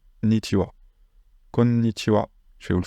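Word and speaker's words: こんにちは: Il y a quelques mots où ce ha va se prononcer wa, konnichiwa.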